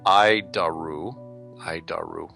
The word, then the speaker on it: ADIRU: So the ADIRU system, also known as the Air Data Initial Reference Unit, we pronounce it IDARU.